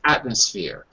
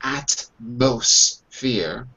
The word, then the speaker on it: atmosphere: the first word is atmosphere notice I don't say at most fear what you speak quickly the M sounds more like an end so my mother changes to and like nurse atmosphere or